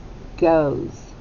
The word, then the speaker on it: goes: sounds three sounds okay so goes spelled with a g o okay we hear those we're good so far and then it has a silent e and on the end